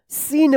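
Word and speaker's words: scene: देखिए यहां पे एस के जस्ट बाद सी आया है तो सी का क्या उच्चारण होगा? नहीं उच्चारण होगा। सी साइलेंट रहेगा। क्या पढ़ेंगे इसको? सीन पढ़ेंगे।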